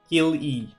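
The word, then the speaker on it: Cilly: Is it Keely or Seely? Kill-E. Alright, that works. Because for example, I think the Final Fantasy character Cid, C-I-D, you pronounce it like an S instead of a K. So I would have thought C-I-L-L-Y, you still pronounce it like an S. It's like Silly, not instead of a Keely.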